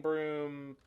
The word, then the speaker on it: Brume: we playing chess i i said broom baby it is spelled b-r-u-m-e broom baby i joined a few